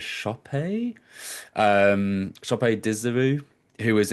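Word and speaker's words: Sope: amazing performance from I think he pronounced it actually as Shopee um shop Dizeru who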